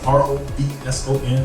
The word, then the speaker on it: Robson: So I'm Robson, R-O-B-S-O-N, looks like Rob's son, pronounced Robson.